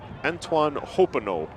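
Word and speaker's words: Antoine Hoppenot: So correction on the pronunciation, it's Antoine Hopinot.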